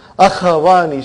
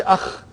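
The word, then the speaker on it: أخوان: Akhawani. See, we cannot say akh. It has to be akhawani. There is a fatah.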